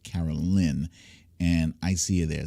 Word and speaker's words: Carolyn: by officer carolyn edwards i'm not sure if it's caroline or caroline it's spelled caroline but i think it's pronounced carol lynn and i see you